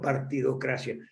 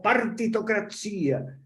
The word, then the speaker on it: partitocracia: recordarme utilizan el término partidocracia pero si fue el término que usábamos olín partido la democracia no es democracia se dice con acento en ley en italiano no sino partitocracia y son cosas de